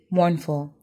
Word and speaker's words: mournful: without it number three mournful the word stress is on the first syllable this word means depressed